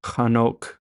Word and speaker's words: Hanok: So for Enoch, his name was actually Hanok.